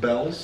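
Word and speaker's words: Bealls: But isn't that pronounced Bells? Oh, I think he's right. I think it's pronounced Bells.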